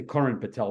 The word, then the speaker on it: Karan Patel: Actually, I got to say Karan Patel, because his dad, Kuldeep, has corrected me many times that I mispronounced.